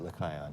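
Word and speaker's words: Lechaion: I pronounce it Lycaon.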